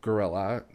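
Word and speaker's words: guerrilla: those who don't know gorilla which is spelled g-u-e-r-i-l-l-a film-making is a form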